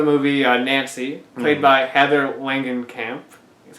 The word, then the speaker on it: Langenkamp: The main character in the movie, Nancy, played by Heather Langenkamp, that's how you pronounce it.